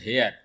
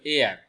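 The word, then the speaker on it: heir: এখানে ভুলের কারণটা হলো স্টুডেন্টরা এই শব্দের উচ্চারণ করেছে হেয়ার। এই শব্দের উচ্চারণ হেয়ার না, এই শব্দের উচ্চারণ হলো এয়ার, অর্থাৎ বাতাসের ইংলিশকে এয়ার একই উচ্চারণ।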